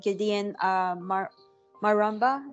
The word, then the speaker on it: Gideon Maramba: Today I have with me my colleague Gideon Maramba. Is that how I pronounced it?